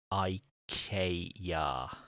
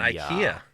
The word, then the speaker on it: IKEA: to the advice and tell jeff it's definitely pronounced i k yah it's not ikea it's not ikea oh congratulations overton forge is